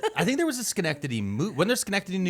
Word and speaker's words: Schenectady: Because when you look at that word, it doesn't look like it should sound like that. No, I'm gonna say that. I think there was a Schenectady movie.